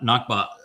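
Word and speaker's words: נקבה: So, Hebrew has a word that is pronounced nakba and then there is the great nagba of the Arabs.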